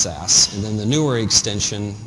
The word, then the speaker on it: Sass: as SAS um so the old syntax used the extension S A and was pronounced SAS and then the newer